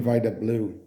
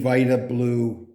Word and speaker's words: Vida Blue: from looking at Poetics the name Vita blue is a mellosis three syllables all stressed Vita blue what